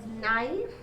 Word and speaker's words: knife: Next one is knife. K and N letters are underlined, but K is silent and you have the phoneme N.